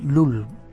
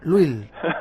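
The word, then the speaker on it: Lull: Luis, Luil. Luil. Sí, por ahí en en Madrid soléis decir LUL o cosas así, pero sí es un poco difícil por nosotros.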